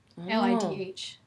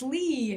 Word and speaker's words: Lidh: They're like, it's Lee. And I'm like, no. It's Lid. Like a bin lid.